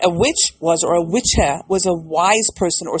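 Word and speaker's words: wicce: So Wicca, the word Wicca, is based on an old English pronunciation of the word witche or witch or witcha or witch. So W-I-C-C-E, witche.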